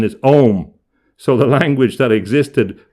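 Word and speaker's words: Ogham: pre-existing alphabet called uh the english call it ogum o g h a m but the correct pronunciation is om so the language that existed of the druids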